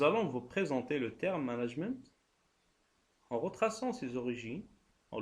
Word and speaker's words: management: Bien sûr, sans prononcer le T. On disait seulement management et non pas management pour faire une différenciation entre la prononciation anglaise et la prononciation française.